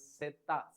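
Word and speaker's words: zeta: Z is pronounced as setta.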